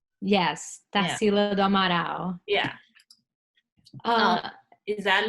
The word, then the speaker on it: Tarsila do Amaral: Tarsilo da Amaral. Yes, Yeah. Tarsila do Amaral.